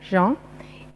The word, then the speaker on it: Jean: Entonces, Jan es un sonido nasal, Jan, y el apellido estuve buscando, no da para hoy explicar, es una derivación, fue...